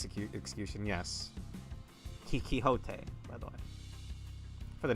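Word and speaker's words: Quixote: And uh you like Don Kiote. You get better pronounce her last name right. It's Kiho.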